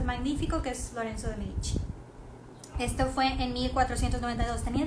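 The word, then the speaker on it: Médici: Los Medici o la familia de los Medici, van acento en la E, era una de las familias más importantes de Florencia y tenían muchísimo dinero.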